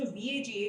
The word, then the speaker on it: Vaga Tales: So Vaga Tales का जो VAGA जो first 4 words है, we took this word from vagabond, that means traveler. But we pronounce it as Vaga because Vaga actually represents border, and Tales means story.